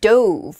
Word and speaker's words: dove: often represents peace and it can also be pronounced douve which is the past tense of the verb to dive so you might say